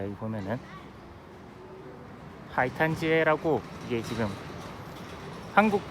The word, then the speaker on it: 海滩街: 자, 오늘 여기 보러고 오려고 했던 게, 자 여기 보면은 하이탄지에라고, 이게 지금 한국 발음으로 읽으면 이게 해탄가입니다.